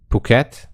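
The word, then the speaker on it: Phuket: they were in kosamu and puket that's how they pronounce it right right they told me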